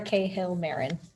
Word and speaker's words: Cahill Marron: just www and then my full name which is k hill marin spelled like that dot com no h c a h i l l m a r r o n uh leave my emails